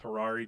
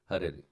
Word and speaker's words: Hariri: I asked him like how to officially announce his name, and he said there's like 3 pronunciations of it, and I decided to go with Harari just because it sounds like Ferrari, because the man is accelerating.